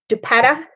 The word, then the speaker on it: dupatta: Is it dupatta?